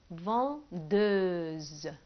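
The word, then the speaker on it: vendeuse: لما نحولها هتبقى اون فاندوز، اون فاندوز. ال اور حولناها ل او اس او، بننطقها طبعا اوز لان الاس انتر دو فوايل او بين حرفين متحركين بتتنطق زد، كنا اخدنا برضو الكلام ده قبل كده.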